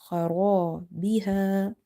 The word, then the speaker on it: خرابها: Kha is heavy because it's from the heavy. Ra is heavy because of having fatha on the top, and alif is madda. So we have stretched this word ra, khara biha.